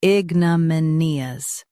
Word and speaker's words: ignominious: Ignominious. Both US and UK have the same pronunciation of this word. Stress me. Keep na soft and nee clear. Ignominious. Ignominious. Stress me. Keep na soft and nee clear.